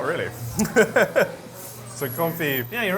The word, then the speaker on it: confit: Firstly, I know you don't pronounce the T. It's duck "con-fee." It's French. So? They don't say T's over in France? Not really. So, confit.